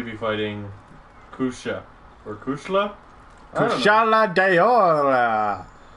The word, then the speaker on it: Kushala Daora: Kushala DAORA. That's their name, and that's exactly how you pronounce it, with accent and everything.